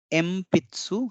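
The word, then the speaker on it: えんぴつ: तो ये शब्द एक्चुअली है एनपित्सु, लेकिन जब हम एनपित्सु उच्चारण करते हैं तो उच्चारण करने में मुश्किल होता है, इसलिए इसको प्रोनाउंस करते समय ये एमपित्सु हम उच्चारण करते हैं। देखिए म न के जगह हमने म लिखा है तो एमपित्सु उच्चारण हो जाता है ये। तो ये भले ही हमने एनपित्सु लिखा है यहाँ पे, ये शब्द एनपित्सु है, लेकिन उच्चारण करते समय इसे एमपित्सु पढ़ा जाएगा।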